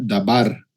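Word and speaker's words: דָּבָר: Y la palabra palabra en hebreo se escribe o se pronuncia dabar.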